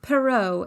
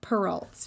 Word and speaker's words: Perrault: name and the pronunciation because charles perrault is a frenchman it is pronounced perrault and not pearls can you say scar